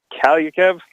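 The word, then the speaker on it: Kaliyev: his name is Arthur I think it's Cal you keV is how you pronounce it but he's a guy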